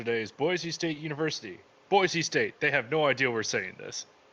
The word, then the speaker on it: Boise: Boise State. They have no idea we're saying this. Boise State. Apparently, it's pronounced Boise.